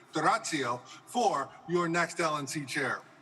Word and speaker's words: D'Orazio: Please choose D'Orazio, or as Pietro correctly pronounces it, D'Orazio, for your next LNC chair.